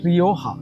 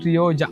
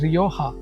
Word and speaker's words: Rioja: We call it Rioja. So it's from Spain, Spanish word, Spanish name for a region, Rioja. We don't pronounce it Rioja, so we call it Rioja, a dry, medium to